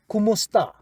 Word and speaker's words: kumusta: So ka remember is you kumusta that's how we say it.